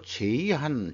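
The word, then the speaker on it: Zeihan: 보도 내용인데요이 사람이 그 피터 제이 한 자이한이라고도 발음하기도 하는데 국내에이 사람의 책이 그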